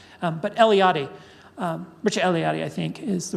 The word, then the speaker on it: Mircea Eliade: Um but Eliade, um Mircea Eliade I think is the right way to say it, but I I always get that wrong for some reason.